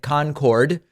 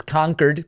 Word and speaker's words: Concord: in conquered New Hampshire Trump pronouncing it Concord like the infamous supersonic jet but it is conquered please sir Trump as